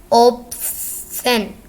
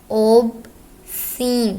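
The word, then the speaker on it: obscene: ओबसेन, ओबसीन sorry ओबसीन पढ़ते हैं इसको हम। फहश, इसमें एस साइलेंट है।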